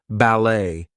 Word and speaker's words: ballet: So things like ballet, gourmet, we are not going to pronounce the T there.